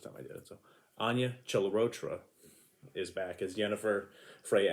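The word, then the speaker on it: Anya Chalotra: dead at that point spoiler alert she's not anya chella rocha sorry let me fix that again because i always say her name wrong and she yelled at me the first time i did it so anya celarotra is back as jennifer freya allen is back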